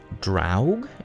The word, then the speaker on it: Draug: need to get over at some point um drought is how you pronounce his name i have so many combat